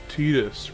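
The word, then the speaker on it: Tidus: saying uh you know it's pronounced Tetus, right? And I was like, "Yes, I recognize the council has made a a decision, and given that it's a stupid decision, I've chosen to ignore it.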